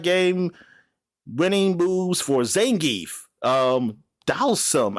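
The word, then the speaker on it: Dhalsim: Dalsum. How do you pronounce that? Dalsum? And Vega. Dalsum. Okay. Yeah. All right. So I was right. That's the way I always heard it. Dalsum.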